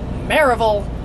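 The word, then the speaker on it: Maryville: and we're going to marry Vale or Marable Hertz pronounced and that's probably about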